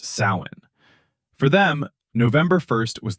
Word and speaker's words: Samhain: The Celts celebrated a festival called Samhain, pronounced Samhain.